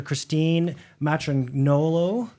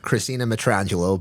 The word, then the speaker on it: Christina Matrangolo: the pleasure of dr christine matron nolo uh coming to us if i if i've pronounced that correctly he he did not uh christina matrangelo but nonetheless uh when